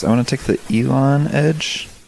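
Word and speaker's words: Elan: oh dang recording okay to the oxford dictionary online it's pronounced elon elon yeah then it should be spelled with an a no that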